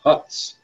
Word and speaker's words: Hutz: I've been told it's pronounced Hutz, as if with a U.